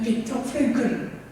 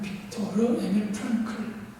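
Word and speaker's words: Viktor Frankl: 사실 영어 발음을 하면 알프레드 아들러, 그 다음에 빅터 프랭클 이렇게 되지만 그때 그 독일어 발음으로 하면 빅토르 에밀 프랑클 이렇게 되는 것이죠.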